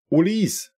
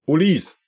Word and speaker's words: Olise: Emokal, Olis, wird er ausgesprochen. Olise war Akzent Graf drauf auf dem E. Also beide deiner Vorschläge Popo, wozu du ja nichts kannst. Ulis.